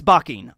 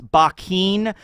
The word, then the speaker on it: Bakkin: Sometimes it's Bakkin, like B-A-K-K-I-N. Sometimes it's Buckin, you know, like buck, like a male deer, you know, it's like that.